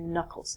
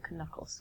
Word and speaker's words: knuckles: So, the part on your hand here are called your knuckles, not your knuckles.